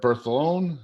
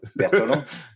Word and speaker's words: Bertholon: I have AJ Schaller and Bertholon. Did I say it right? Yes, that sounds great. Bertholon.